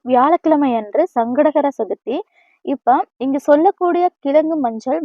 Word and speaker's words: சங்கடஹர சதுர்த்தி: முதலில் வந்து இந்த சங்கடகர சதுர்த்தியை முழுமையாக உச்சரிக்கணும். சங்கடங்களை அறுக்கக்கூடிய சதுர்த்தி அப்படிங்கறதுனால சங்கடகர சதுர்த்தின்னு உச்சரிக்கணும். வெறும் சங்கடகர சக்தி அப்படின்னு வந்துட்டு நம்ம உச்சரிச்சோம்னா நமக்கு சங்கடங்கள் தான் வந்துட்டு வரும். சங்கடங்கள் வந்துட்டு தீராது.